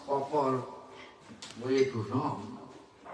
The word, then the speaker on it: Ram: How Ratnaka are unable to pronounce proper way to Ram. Instead of Ram, he was chanting Maram.